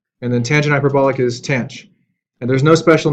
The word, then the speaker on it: tanh: Sine hyperbolic, usually it's pronounced sinh. And cosine hyperbolic is cosh. And then tangent hyperbolic is tanh.